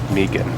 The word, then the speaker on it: Meggen: It's pronounced Megan. Megan.